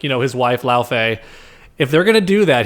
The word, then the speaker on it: Laufey: It's Faye, because like her name is Faye, so it's Laufey.